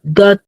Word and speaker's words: got: Let's make sure that you guys understand that those two sounds are different.